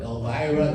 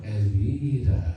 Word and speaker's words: Elvira: Elvira, no, Elvira, right?